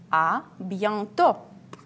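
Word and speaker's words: à bientôt: soon Abby on top ah be on top as usually I pay attention we don't pronounce T at the end AB be on top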